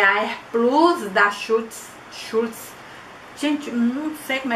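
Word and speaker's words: Schulz: Essa aqui é a Air Plus da Schultz.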